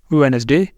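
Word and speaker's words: Wednesday: silent रहेगा या नहीं जैसे यह है हमारे पास वेनसडे वेनसडे यहां पे डी साइलेंट है लेकिन इसके लिए कोई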